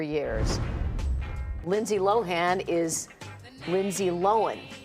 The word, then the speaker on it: Lohan: Celebs whose names we mispronounced for years. Lindsay Lohan is Lindsay Lohan, not Lohan.